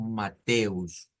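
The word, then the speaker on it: Matthäus: luego Us mateus mateus pero en el Alemán se hace como el énfasis en el en la t es la sílaba tónica mateus Mateo luego el seis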